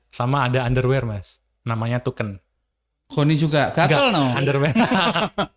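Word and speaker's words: Thuken: saru apa t h u k e n tuken Jangan dibalik bacanya Oh ya ya ada kata-kata lucunya enggak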